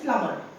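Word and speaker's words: plumber: तो word B is silent in lamp. ठीक है? Then is प्लमर। प्लमबर आया है। पानी ब्लॉकेज हो गया है। Pipe note is नॉट प्लमबर।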